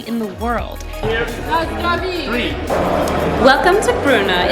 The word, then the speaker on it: Brno: Welcome to Brno. It's actually pronounced with a rolled R, Brno, which I just learned.